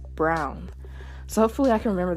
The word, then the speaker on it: Braun: season 4 is that even though I'm inclined to say it as Braun and that's usually how I hear other folks say it the characters in the show actually pronounce rer and Gabby's surname as brown so hopefully I can